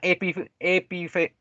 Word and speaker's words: epinefrina: La adrenalina o también se le denomina epidefrina. ¿Sí? Uy, no lo pronuncié bien.